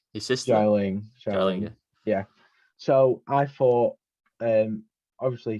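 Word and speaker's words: Xialing: So you had Katie, Shang-Chi, I can't pronounce some of them. Zhu Wenwu, his dad. Wenwu, yeah. And then is it La Ling, his sister? Xiaoling.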